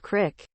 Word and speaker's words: creek: I pronounce creek like crick. This apparently bothers some people. But it's how I was raised. Also, I think it sounds better. Creak is what a hinge does.